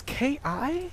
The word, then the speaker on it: ki: It's Ki. Oh, okay. So I think it's ki, using the Japanese pronunciation.